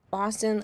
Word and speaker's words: Boston: Boston, like Gaston, but with a B.